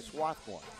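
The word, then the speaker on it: Swarthmore: why you're from Massachusetts I can say Swathmore that's right that's right you can pronounce it with or without the R it's pretty much optional any way you want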